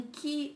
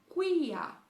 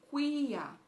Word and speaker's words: quia: Depois, aí vem um que, a, quem, mas a gente pronuncia, mas em latim a gente pronuncia quia, não que, mas quia.